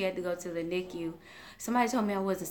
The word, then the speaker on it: NICU: I said it right, NICU.